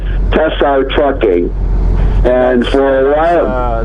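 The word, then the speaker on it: Tsar: your last name it's it's pronounced tessar t s a r and and you might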